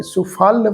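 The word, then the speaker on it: ਸੁਫਲ: ते जन सुफल फले सुफल पाठ प्रोनाउंस कर सुफल फले गौड़ी महला पंजवा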